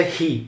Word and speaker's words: he: um e se pronuncia hi. Então, em muitas vezes no inglês, esse H no começo da palavra tem esse som de R, né?